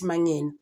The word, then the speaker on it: Mangena: Ngoba ineni case kuBaloyi ke ukade zama ngithi usalinde noma ngena ezobe masithi thina mangena athi no, it's actually this is how you say it mangena.